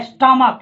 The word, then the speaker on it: stomach: स्टमक, यानी पढ़ने में क्या रहा है? स्टमक, यानी CH का उच्चारण क्या रहा है? क।